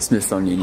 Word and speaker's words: Smithsonian: Smithsonian, yeah.